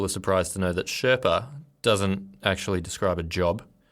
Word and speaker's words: Sherpa: And the word Sherpa, which is pronounced more like Shawa in Tibetan, yes, actually means something close to Eastern people.